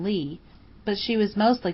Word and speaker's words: Leigh: "I mean she was an actress, and used her stage name, Juanita Leigh, pronounced like it was spelled plain Lee, but she was mostly called Nita Leigh."